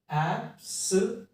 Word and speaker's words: absolutely: अब इसको बोलना है कैसे, आपको देखिए, ये एक साउंड है ऐप, तो इसको प्रोनाउंस कैसे करना है, इट्स ऐप, एप्स, एप्स। जो भी ये कैपिटल लेटर्स में है, यहां पर आपको स्ट्रेस देना है, एब्सोल्युटली।